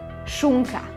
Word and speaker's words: šunka: It means the letter is pronounced softer. One example is s, sh, in word šunka, ham.